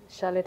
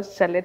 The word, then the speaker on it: Charlotte: Because in real sense, if I'm being honest, Charlotte is a French name. It's supposed to be pronounced with a French accent. The R is supposed to be a that's, that's how Charlotte is supposed to be pronounced.